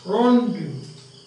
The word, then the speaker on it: rondeau: Rondeau. The pronunciation is rondeau.